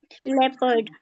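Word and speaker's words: leopard: अब देखिए ओ is silent in the combination of ई ओ एंड ओ यू। जी देखें ओ silent होगा जब हमारा इ ओ का कॉम्बिनेशन होगा और वर्ड्स में आपके अगर इ ओ ओ यू आ जाएगा तो ओ जो होगा वो साइलेंट हो जाएगा जैसे पीपल नहीं पढ़ेंगे क्या पढ़ेंगे उसको पीपल बस people people people Jio पारडी नहीं पढ़ेंगे उसको जे पारडी पढ़ेंगे रहेंगे बस लेपर्ड लेपर्ड रफ रफ ओ का साउंड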